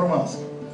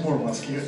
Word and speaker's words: Мурманск: я перл Мурманск я неправильно как многие другие не мурманчане произносил это название как слова Мурманск А надо говорить мурмански мурманчане коренные оче обижаются когда ударение стаёт не так так же как нельзя